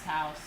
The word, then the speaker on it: Taos: Good old, no, Taos. It's Taos.